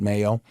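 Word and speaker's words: μέλλω: So this is mello. This word, some people pronounce it mayo. It's a word that says future, but immediate future.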